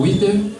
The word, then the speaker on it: Witter: Eu me chamo Witter, é um pouco complicadinho. Como? Amém? Witter. Witter. W, la I, la T, la E e la R. Bueno, está pronunciado. Witter.